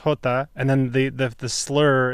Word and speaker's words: jota: They're saying it's pronounced Jota, and then the slur.